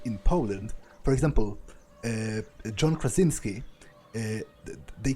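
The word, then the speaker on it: Krasiński: way they would in poland for example john krasinski they call him john krasinski but uh but in polish it's it's uh it's softer it's kracinski so uh i'm 24 i'm a student from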